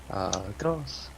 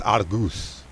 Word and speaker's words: Argos: Argos. Doesn't matter if I spelt it wrong because Google is my friend, which I didn't spell it wrong. Hotus, Hotas. And it's Argus.